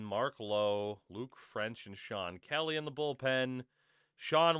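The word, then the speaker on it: Chone: Casey Cotchman, Mike Karp, Jose Lopez, Josh Wilson, Shawn Figgins. That's right. That's pronounced Shawn.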